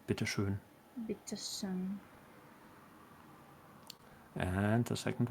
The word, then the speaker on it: Bitte schön: The Ö is elongated on the bitteschön.